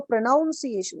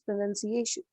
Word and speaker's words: pronunciation: There is no pronunciation, it's pronunciation.